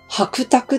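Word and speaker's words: 白鐸: これ、白鐸って読むんだって、白い沢って書いて白鐸。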